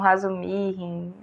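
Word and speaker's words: Razumikhin: pronunciar o nome, mas eu chamo carinhosamente de Razumikin. Algumas pessoas chamam Razumihin, depende do seu russo.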